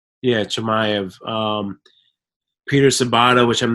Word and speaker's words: Chimaev: Nicholas Dalby, Francisco Trinaldo, Kamaz, how do you pronounce it? Chimaev. Yeah, Chimaev.